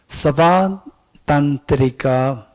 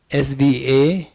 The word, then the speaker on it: Svatantrika: The second one is Savatantrika Madhyamaka. Okay, Ming Peng. How do you pronounce it? Svatantrika. Perfect. Svatantrika.